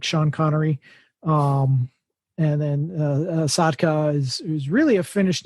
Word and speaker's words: Sotka: can just look up my name Sean it's spelled like Sean connory um and then sadka is is really a finished name that's fun